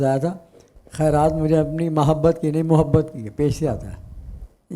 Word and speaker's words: محبت: آپ نے محبت پڑھا تھا. ٹھیک ہے ماشاء اللہ. تلفظ اچھا پڑھا آپ نے. محبت, محبت میم کے اوپر زبر نہیں ہے, پیش ہے.